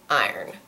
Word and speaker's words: iron: so I'll generally say something more like iron iron it's got like one and a half syllables in English the word iron